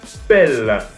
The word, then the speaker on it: Pelle: C'est Norvel Pelle, hein, c'est pas Pelle, hein, je prononce bien.